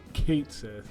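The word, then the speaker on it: Cait Sith: the worst characters ever created in my opinion Kate Sith you are correct actually because they do pronounce it in rebirth um I just think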